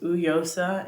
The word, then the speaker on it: Uyiosa: a little bit CU my name is yosa but it's spelled u y i o s a um um it's pronounced uosa in like our like natural dialect I guess or language um from